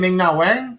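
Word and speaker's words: Ming-Na Wen: Ming Na Wen?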